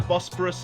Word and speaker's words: Bosphorus: The Bosporus is a body of water that connects the Mediterranean to the Black Sea and kind of rhymes with prosperous.